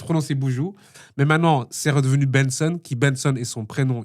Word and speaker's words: BNXN: Donc du coup Benson a décidé de se de garder la même orthographe mais que que ça que ça se prononce Benson et et c'est plus clair pour nous-même. Mais ça s'écrit toujours de la même manière hein.